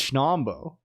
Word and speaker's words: Schnombo: How else can you possibly say it? I feel like it has a pretty unambiguous phonetic, right? It's Schnombo.